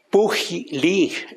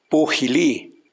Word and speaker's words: Pujilí: Bueno, Pujilí en sus comienzos se llamó Puxillí, con X, pero como se escribe la palabra México con X, pero se pronuncia con J, también Pujilí o Pusillí.